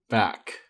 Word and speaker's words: Back: By the way, WhalePanda, I think it's pronounced Bach, not Bach, back.